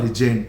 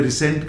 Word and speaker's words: resent: और इसका स्पेलिंग देख RESENT, लेकिन प्रोनाउंसिएशन रिजेंट, जेंट, रिजेंट। कुछ बच्चे एसेंट सेंट के चक्कर में रिसेंट कर देते हैं, नो रिजेंट।